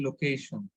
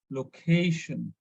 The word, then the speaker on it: location: So normally, in plain language, we say location, but correct pronunciation is location. So we need to stress on ca, location.